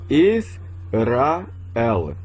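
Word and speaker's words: ישראל: Eu pronuncio como Israel.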